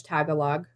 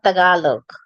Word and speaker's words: Tagalog: Um, and again, the Spanish tagalog. Can somebody tell me what that is? Because I don't know what that is. Tagalog. Okay. Is it You say Tagalog.